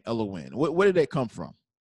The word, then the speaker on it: Elohin: i n is n so when you break it down it's l win just kind of got